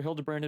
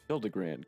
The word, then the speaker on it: Hildibrand: Since parting ways, I've searched every alley and dive bar and Everkeep for signs of this Hildibrand character. It's pronounced Hildibrand.